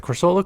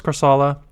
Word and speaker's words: Corsola: Someone says corsola. Is how you pronounce it. So I'll just pronounce it corsola until someone says otherwise.